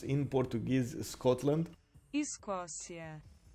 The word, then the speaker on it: Escócia: How do you pronounce in Portuguese Scotland? Escócia. Escócia.